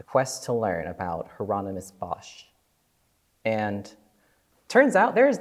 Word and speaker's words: Bosch: Garden of Earthly Delights Hieronymus Bosch okay or both if you want the Dutch pronunciation okay this should be